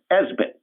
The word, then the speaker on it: ESBT: small business trust or esbt often pronounced esbit and even if you